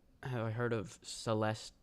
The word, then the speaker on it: Celeste: what it's about though remove the last e Celeste okay it's basically